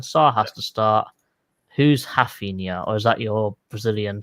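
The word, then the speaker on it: Raphinha: Who's Rafinha? Or is that your Brazilian tongue coming into this, mate? That's how you actually pronounce it. Because ours at the beginning are H's in Brazil.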